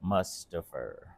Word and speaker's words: Mustaphor: Mustaper. Mustaper. I always feel like I say it wrong. What? Mustafer.